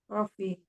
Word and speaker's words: coffee: Coffee. Coffee, yes. We pronounce kopi in English coffee. Jadi O-nya itu seperti A, coffee.